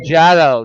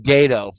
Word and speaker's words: Jado: name Jado, not Gato.